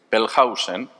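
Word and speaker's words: Wellhausen: Julius Pelhausen, la W en alemán se pronuncia como v fuerte, no como U.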